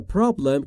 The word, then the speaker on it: problem: و تلفظ problem رو دقت بفرمایید دوستان، problem نیست. Problem بین P و R صدایی وجود نداره، ما هم صدایی نباید اضافه بکنیم.